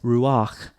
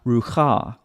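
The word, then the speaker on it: רוּחַ: That's why it's ruach, not rucha, because the vowel comes before the consonant.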